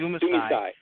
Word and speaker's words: Dumisai: And how do you pronounce that? Dumisai? Dumisai. Yes, Dumisai.